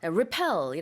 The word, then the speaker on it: repel: why yes yeah repel insect repellent be careful of the pronunciation the stress is on the second syllable so it's a Repel